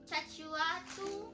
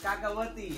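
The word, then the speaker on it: cacahuate: Chachuatu? No, it's cacahuati.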